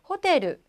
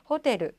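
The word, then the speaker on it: ホテル: 뒤에 받침이 약간 우리랑 다르죠. 호테르, 호테르. 그래서 루가 밖으로 나와 있죠. 호테르 이렇게 발음해 주시면 됩니다.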